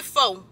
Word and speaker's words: pho: pull up to the fa spot. Fa, fa. I say fo. I really don't know why. I think it's fa, fa, but it just spelled fo, like phobia.